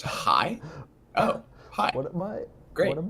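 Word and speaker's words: Hej: Hedge. Hedge. It's pronounced high.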